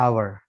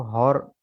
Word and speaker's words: hour: ये हो गया आवर, ठीक है, इसको हॉर नहीं पढ़ा जाएगा, या आर नहीं पढ़ा जाएगा, आवर, ठीक है, OUR आवर, एच साइलेंट है। इसको बाज जगह आप सुनेंगे वो आर पढ़ते हैं, आर, हाफ एन आवर, तो हाफ एन आवर यानी आधा घंटा, तो आर नहीं होगा, ये आवर ही होगा हमेशा, ठीक है, HOUR आवर।